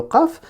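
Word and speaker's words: قاف: Ça veut dire que là, si je vous redessine ici en train de prononcer le qaf, ça veut dire que votre langue, elle sera...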